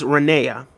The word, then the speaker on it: Renea: My name is Renea, like the name of Queen of Jordan. It's pronounced the same way.